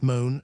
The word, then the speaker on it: Mont: Montenegro soon appeared and then it struck me that the syllable Mont pronounced moan occurred in all but the last of the substitutive names.